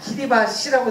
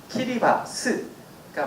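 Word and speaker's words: Kiribati: 키리바스, 보통 우리나라에 다 키리바시라고 되어 있거든요. 영어 스펠링이 이렇게 되어 있는데 현지 사람들 말에 의하면 TI가 발음이 스라고 합니다. 그래서 진짜로 정확히 발음을 하면 키리바스가 맞고요.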